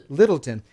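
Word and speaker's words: Lyttelton: by a guy named Humphrey Littleton, and Littleton is spelled L-Y, not I. Littleton.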